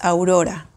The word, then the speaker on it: Aurora: it's a Prince's name in Spanish is pronounced Aurora so it's a little different but I think I